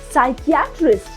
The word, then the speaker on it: psychiatrist: See, when P is followed by S, specifically at the beginning of the word, the P is silent.